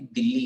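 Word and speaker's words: Dili: और एक मजेदार बात बताता हूँ कि इसकी राजधानी भी दिल्ली है, पर स्पेलिंग DI LI ऐसे करके दिल्ली का स्पेलिंग है।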